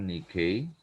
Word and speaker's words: Nike: dan klindungan kota Athena Nike diucapkan Nikkei adalah bahasa Yunani untuk